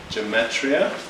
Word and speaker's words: gematria: So the number 14 is an example of what's called gematria, which is spelled Gematria. I'll repeat that again. Gematria, Gematria.